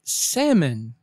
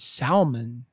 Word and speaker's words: salmon: online word number 8 say salmon not Salman the Ellis Island beware of the silent letters example salmon swim upstream